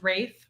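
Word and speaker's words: Ralph: Rafe, and it is pronounced Rafe where he's from.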